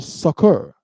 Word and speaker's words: succor: But the rest fled to the heathen for succor. Does anybody know what the word? It's actually pronounced succor.